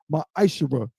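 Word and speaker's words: מעשר: You can find this in numbers 18 and 21 and Malachi 3:es 8-10 means 10th in Hebrew is pronounced my eyesher 10% of every penny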